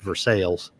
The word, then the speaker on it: Versailles: It's actually supposed to be called Versailles, but they pronounce it Versailles.